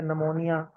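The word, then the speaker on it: pneumonia: नहीं पढ़ते ठीक है निमोनिया निमोनिया में अगर हम इंग्लिश के स्पेलिंग देखें तो उसमें पी भी आता है शुरू में लेकिन पी हम नहीं पढ़ते इसी तरह अरेबिक में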